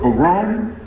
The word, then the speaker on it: pogrom: How do you pronounce that word? Pogrom?